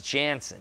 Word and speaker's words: Jansen: I have a friend who's named Michael Jansen, and it's actually Jensen. And now I'm saying his name wrong to try and get yours right. But yours is Jansen. His is Jensen.